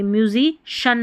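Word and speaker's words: musician: जैसे यहां पर देखिए म्यूजिक सीएन नहीं बोलेंगे। म्यूजिशन बोलेंगे। देखिए यहां पर श है यहां सी आई है।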